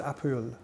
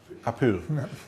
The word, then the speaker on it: Powell: You should pronounce it the proper Welsh way. It's a Welsh name, which is Apul. Apul.